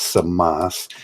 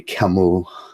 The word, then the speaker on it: Camus: The Rebel is Camus, or Samas, pronounced in the Albanian. It's Samas. The French say Camus. His name was Samas in the Albanian because he was Albanian.